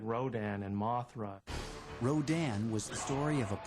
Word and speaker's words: Rodan: movie filmed in color Rodan which in Japan was called radon you know it's the